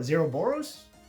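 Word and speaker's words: Zeroboros: i personally like this card a topological zero zero boros my cameraman has told me i pronounced it correctly let's go um now the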